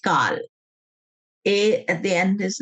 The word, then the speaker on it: Kal: Kal, it's pronounced Kal.